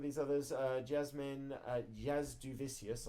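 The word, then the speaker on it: Jasudavicius: others uh Jasmine uh Jazz duvicius I did a terrible job pronouncing her name on the picture dude I think I was going for yasu davisius every single time even though I've heard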